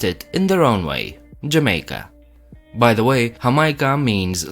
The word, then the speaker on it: Jamaica: Yamaye, called their home Hamaica, and the Spanish who took over in the 16th century used that name but changed the H with a J. J is pronounced as an H in Spanish.